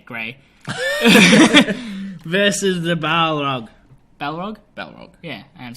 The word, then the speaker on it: Balrog: Balrog.